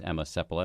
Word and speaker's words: Emma Seppala: let her speak for herself her name is Emma sepula am I pronouncing that right that's correct full title is